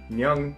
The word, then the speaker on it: 녕: So when you put it together, it becomes nyung. It sounds a lot like the word young, just with an N at the front of it. So it gets pronounced nyung. Now let's put these two together.